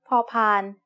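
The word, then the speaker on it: พ พาน: used for making offerings the sound of paupan as the initial consonant of a syllable is like the p in panda you should feel air coming out of your mouth when you make this sound as a final consonant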